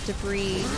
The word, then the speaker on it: debris: tons of metal and rock and debris on top of it. Excuse me, it's Debris. You used to like mispronouncing it.